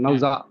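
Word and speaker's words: נָסָה: ஆக்சுவலா நவ்சா.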